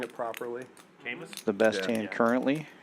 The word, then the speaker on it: Camus: Camus? the best Yeah. hand currently. Greg with a gut shot, facing a know. I mean, 130 In bet. France, and it's Camus.